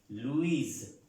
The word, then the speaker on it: Louis: está la gran diferencia si son de origen francés la s no se pronuncia y así es de